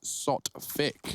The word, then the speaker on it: Sotfik: That is Sotfik, if you want to say it. That's Sotfik, not anything else.